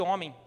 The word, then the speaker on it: homem: Re é chamada letra de Deus porque ela gerou o nosso H de homem, que quando você fala homem, você não ouve o H, mas ele está lá, igual Deus.